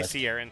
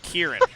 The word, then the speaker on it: Kieran: He does know it's pronounced Kieran. Did I say Sierran twice? Like 8 times. Okay, Kieran. It's clearly Kieran.